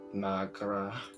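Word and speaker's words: mo ghrá: One dialect would pronounce it as Magra.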